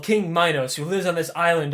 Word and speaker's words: Minos: For whatever reason, it's pronounced Minos, like minus, like less or whatever.